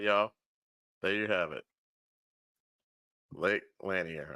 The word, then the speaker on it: Lake Lanier: there you have it Lake laner I believe that's how they were pronouncing it um oh yeah some